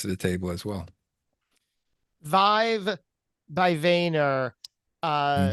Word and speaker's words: vYve: what she brings to the table as well Vive by vayer uh v yve v v most people would spell it VI ve but it's VY ve right